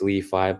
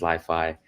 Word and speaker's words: LI.FI: Well, technically it's pronounced Leifi, but everyone knows us as LiFi.